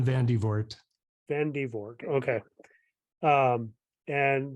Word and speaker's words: Van de Voort: John Vander Voort or Vert? Very close. Yeah. John Van de Voort.